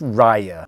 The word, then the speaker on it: Raya: i know because i saw the trailer it's pronounced raya and we're gonna go through each one of